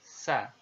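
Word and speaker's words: ثَ: Nah, secara teori huruf sa ini diucapkan dengan ujung lidah berada di antara dua gigi seri kita.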